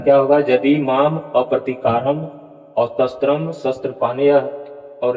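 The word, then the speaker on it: मामप्रतीकारम्: इसलिए यहाँ आप देखिए, यहाँ पर दिया गया है यदि माम प्रतिकारम शस्त्रम शस्त्र पानीय, ऐसा उच्चारण होगा?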